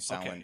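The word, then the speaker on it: Samhain: in yeah I think Sin Sin it seems like the the standard Irish pronunciation all right so from here on now we're we're saying sin yes so should we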